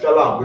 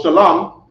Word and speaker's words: Shalom: in more Hebrew so Shalom shalam is two syllables so here goes an